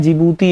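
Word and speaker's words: جيبوتي: डी जिबूती, डी प्रारंभ स्थल भले ही यह लिखा हो डी जिबूती लेकिन इसका उच्चारण क्या है? जिबूती एक देश।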